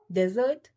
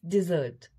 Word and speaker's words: dessert: Dessert? No, it's dessert. Dessert होता है कोई भी हम जो मीठा खाते हैं स्वीट खाते हैं उसे डिजर्ट कहते हैं.